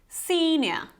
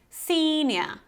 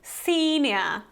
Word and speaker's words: senior: proper pronunciation is simply senior senior so you have this long e whenever you have these two dots I would say it's always long senior so you're kind of smiling senior okay so it's not